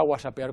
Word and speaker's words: whatsappear: Y decidimos que aunque nosotros pronunciamos whatsappear con G, pero lo propio era whatsappear con W, porque aunque nos parece